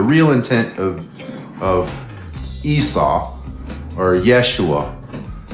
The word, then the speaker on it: Yeshua: Jesus, that's not pronounceable at the time period, by the way, guys. Is that something they did just... J didn't exist till the 16th century, so it was Yeshua or Esau.